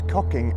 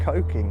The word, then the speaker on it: Cocking: Now I've heard the name of this place be pronounced both as Cocking and Coking, however due to our severe immaturity we will be referring to it as Cocking, as in Cocking Nora!